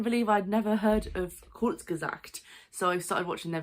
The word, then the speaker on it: Kurzgesagt: and I'm going to read it out so I pronounce it correctly, Kurzgesagt, putting my GCSE German to good use, in a nutshell.